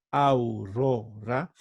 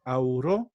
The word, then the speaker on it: aurora: Entonces, si tengo aurora, de estas 3 sílabas, la penúltima es bueno, es ro, ¿no? Entonces, aquí he marcado los acentos, dice aurora. Entonces, es una palabra grave.